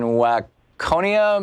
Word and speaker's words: Waconia: Lynette in Waconia, Minnesota.